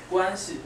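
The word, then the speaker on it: 关系: Guanxi. That's what I said. There's different tones in Chinese, right?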